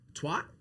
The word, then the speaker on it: twat: Twat? Twat. Twat. Twat. Twat. Why can't you say? I'm overthinking it at this point. Twat. Like hat. Hat.